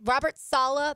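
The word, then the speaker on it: Robert Saleh: everywhere online so just read it learn it Robert Salah that's how you pronounce his name Thomas castalanos like we've talked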